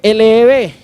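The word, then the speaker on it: לב: se usaba en el Antiguo Testamento para corazón se escribe L-E-B, y es Leb, ¿cierto?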